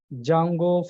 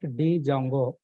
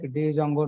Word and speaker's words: Django: the popular framework is Jango framework Jango framework yes here D is silent guys not Django just we are pronouncing like Jango we are pronouncing like